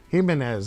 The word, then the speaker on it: Jimenez: Jimenez. It's a H. The J is pronounced like a H.